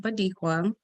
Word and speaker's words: Bodequia: So my first name is pronounced Bodequia. My dad's name is Bobby, so he took the B-O, the ba, and smashed it with Dequa, and so it's Bodequia.